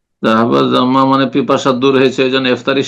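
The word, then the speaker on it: ذهب الظمأ: এক জায়গায় বলেছেন যে জাহাবা জমাও অন্য একটা লেকচারে আপনি বলেছেন যে জাহাবা জমা হবে উচ্চারণ করবেন জি জাহাবা জামা এটাই শুদ্ধ ওটা আগের হয়তো আলোচনা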